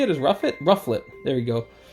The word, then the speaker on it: Rufflet: Likewise, the Volib um a ruffet. Is that how you say it? Is ruffet. Rufflet.